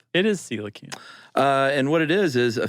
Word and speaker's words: coelacanth: Or pronounced, rather. Right. Either one. But it's coelacanth. It is coelacanth.